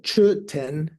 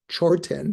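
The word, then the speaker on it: མཆོད་རྟེན: You would say churten, but the word ten has a R superfix, so usually it's pronounced chorten. Sounds like it's like CHOR.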